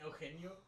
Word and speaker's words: Eugenio: You mean Eugenio, pendejo?